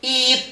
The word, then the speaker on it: eat: Oke, eat, makan. Makan, eat. Lah ini dibaca panjang, ini juga dibaca panjang. Enggak boleh dibaca it saja enggak boleh.